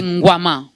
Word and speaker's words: Ngouama: Ngwama, j'espère que je n'ai pas massacré votre nom, prophète. Non, c'est Ngwama. En tant que bantou, tu l'as bien prononcé.